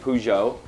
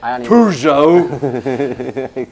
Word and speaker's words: Peugeot: is currently backed by two manufacturers, Chevrolet and Peugeot. That wrong, I'm sure. How do you say it? Peugeot!